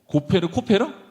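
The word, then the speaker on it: כֹּפֶר: 그러니까 코페르, 카파르가 같은 발음이에요.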